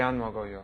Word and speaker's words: 안 먹어요: 왜 안 먹어요? That's right. Even though it's written separately, you pronounce it as one word.